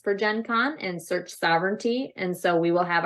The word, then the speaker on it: Sovranti: because I'm really curious so we say sovereignty yes but when I first saw it I was calling it Sobrante because that's kind of how it looks so for those that